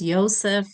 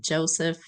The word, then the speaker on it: Yosef: Today I'll be presenting my prominent person, whose name is Joseph Aviram, who preferred to say pronounced Yosef, not Joseph Aviram.